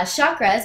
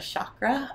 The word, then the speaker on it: chakra: to explain yeah so with our beautiful american accents we say kind of a chakra uh but a sanskrit term is more chakra uh yeah for today